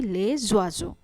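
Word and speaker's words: les oiseaux: লে ওয়াজো, লে ওয়াজোকে আমরা একসাথে উচ্চারণ করছি লে জোয়াজো।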